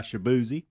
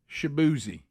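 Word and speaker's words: Shaboozey: is it how you say it Tipsy by shabzi shabzi okay how do you spell that I'm I wouldn't even know how to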